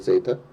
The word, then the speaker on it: zeta: And here we're going to have zeta naught, zeta 1, zeta 2. Zeta is the correct Greek pronunciation, by the way.